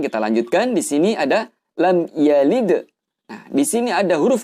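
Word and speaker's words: لم يلد: Maka hukum bacaannya di sini teman-teman adalah idhar syafawi. Artinya kita membaca dengan jelas di bibir. Sehingga bacanya adalah lam yalid. Kita baca persis huruf-huruf yang ada di sini. Mimnya pun juga jelas, ya-nya pun juga jelas. Dan panjang harokatnya cukup dengan satu harokat.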